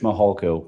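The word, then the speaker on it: Mihalko: court reporter you bet my name is Mitch mahalco good morning I'm a commander with the El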